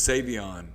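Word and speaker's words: Sai'vion: Every time he calls to like apply for a credit card, he says, "My name is Savon." And then he has to spell it. S A I apostrophe V I O N.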